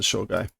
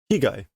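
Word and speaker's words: 被害: No, that's not Shogai. Higai.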